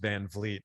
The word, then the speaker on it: Van Vliet: Yeah, it's pronounced Van Vliet, and I get, man, so many different pronunciations of that.